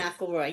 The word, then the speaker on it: McElroy: Did I pronounce that right? I should have asked ahead of Yes, time. McElroy.